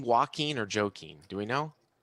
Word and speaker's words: Joaquin: Oh, it is Joaquin. That's what I said the first time. Yeah, I don't know anybody that would pronounce that Joaquin.